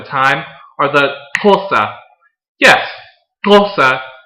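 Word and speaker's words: Xhosa: are the tulsa yes tulsa is pronounced with that little click in the beginning and i will have you know that it took a lot of practice to be able to say the name correctly the fossa were a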